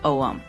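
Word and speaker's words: ogham: That word is pronounced ow.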